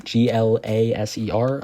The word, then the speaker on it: Glaser: I believe it said Joe Glaser is how you pronounce that name. Glaser.